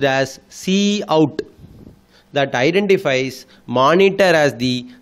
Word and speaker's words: cout: So the first operand is the predefined identifier pronounced as Cout, that identifies monitor as the standard output object.